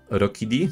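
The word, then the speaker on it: Rookidee: Jednak dajemy do pana Rokidi. Tak się powinno chyba wymawiać.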